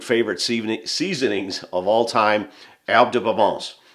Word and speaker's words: Herbes de Provence: Salt, and one of my absolute favorite seasonings of all time, Herbes de Provence. And because my wife's a French teacher, I have to pronounce it that way.